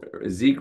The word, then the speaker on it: Zeke: of Oz uh zek Zeke rhymes with weak and uh and and